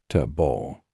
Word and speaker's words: table: For example, the word table has stress on the first syllable, table.